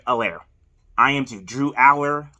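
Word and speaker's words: Allar: i am to drew aller i call him a lair i think it's just aller specifically pronounced but yeah um we're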